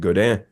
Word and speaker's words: Godin: Completely off to the side, I noticed one of your live videos on your Instagram, you're playing a blonde Godin, Mm-hmm. or Godin, however you want to pronounce it.